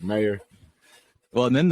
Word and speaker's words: Meier: I was like, "Meyer." Well, and then the revelation that yours is not pronounced Meyer. Yeah, It's Meyer. Meyer.